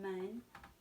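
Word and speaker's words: 们: Mun. It looks, remember the E is pronounced like a U sound?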